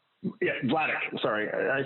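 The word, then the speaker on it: Vladeck: Stephen um damn it I'm gonna say his name wrong how do you say his name again vadic yeah vadic sorry I said earlier that sounds very um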